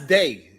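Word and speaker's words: Dey: That's Day. That's Day from he be on Fight Club every now and then. You know Day? Nah, Day? Day, yeah, that's Day. How you spell it? D-E-Y, Day.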